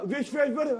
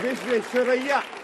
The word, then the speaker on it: विश्वेश्वरैया: या ना विश्वेश्वर, अरे भैया विश्वेश्वरैया, फंस गया मुंह।